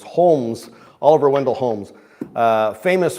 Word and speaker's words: Holmes: say that Holmes h o l m s Holmes Oliver Wendell Holmes uh famous for his uh